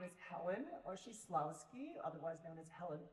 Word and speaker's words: Oshislawski: Hello, my name is Helen Oshislawski, otherwise known as Helen, because nobody can pronounce that.